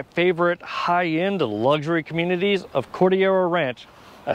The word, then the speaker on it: Cordillera Ranch: one of my favorite high-end luxury communities of cordial ranch i said it right this time and this